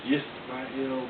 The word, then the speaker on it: Yisrael: has seen the terminology Yisrael, the way it's spelled with a Y. That is because at that time it was a Y sound.